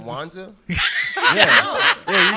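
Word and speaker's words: Kwanzaa: syllables and stuff what Kwanza Kwanza is kuanza orza kuanza yeah but you said Kwanza twice what he said kuanza yeah yeah you said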